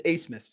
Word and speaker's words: Abmas: It's like ace in the hole, but it's ABMAS. It's Asmus.